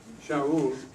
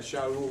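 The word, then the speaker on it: שאול: Okay, Shaul. So it comes from, this is the word in Hebrew. Esa es la palabra en hebreo, Saulo. Shaul. Okay, that's how you pronounce it. Saúl. Yeah, Shaul.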